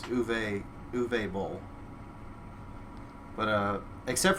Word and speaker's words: Uwe: I'm looking it up he's German it's like UWE yeah he's German so I think it's uve let me see mest broke pretty much any movie from him yeah it is it's uve uve bow but uh